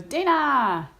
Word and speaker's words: Dana: I think it's because my niece says my name she goes Dana which it's obviously it's the correct way but nobody else says